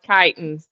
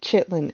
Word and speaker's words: chitin: said that it's pronounced chitin. So It listen, is. it might be pronounced Kitelin, but when Brittany said it, she called it Chitlin, and then we went to I did Chitlin.